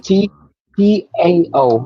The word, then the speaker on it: Tao: TAO, but it's pronounced, I guess, in Chinese manuscript it's pronounced like a D, the Tao.